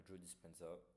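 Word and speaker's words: Joe Dispenza: a tout en ligne Jo dispensa ça c'est'écrit comme ça se prononce avec un Z voilà mais du coup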